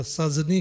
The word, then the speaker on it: सजनी: खाली उच्चारण में जे छै, जेना सजनी कहै छै, ओ ज के नीचा नुख्ता नहीं हेतै।